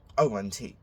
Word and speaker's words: ont: Nous avons, avons, vous avez, avez, and on, which is ont. Do not pronounce the T, no matter what.